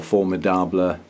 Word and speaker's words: Formidable: growth now that's it's called um formidable or former Dobler because I think it was a French cross originally so it ought to be pronounced that way and it's a cross